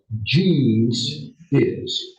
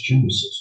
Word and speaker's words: Genesis: Genes is. We say a Genesis. Well, what's Genesis? You know the proper pronunciation.